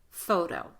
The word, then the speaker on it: photo: T is between vowels. The T is not at the beginning of the strongest syllable, so the T is pronounced as the light D, photo.